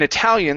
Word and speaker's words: Italia: start with vowels because in Italy you don't say heia you don't sayia right you say Italia yes okay it's e